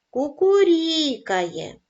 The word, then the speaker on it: кукурікає: падає на звук а кукурікає наголос падає на склад рі дзюрчить наголос падає на